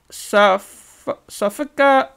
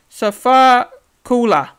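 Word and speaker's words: Sifakula: big fella, actually, and that is Demetric Sofika. Sorry, I'll say it again. My apologies. I'll pronounce this. Try my best here. So it's Demetric Sofakula.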